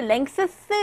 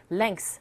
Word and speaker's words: lengths: 이 발음도 어렵다 생각하시지만요. 그냥 자음자음이기 때문에 this 한꺼번에 lengths 하지 마시고요. 그냥 lengths 하시면 돼요.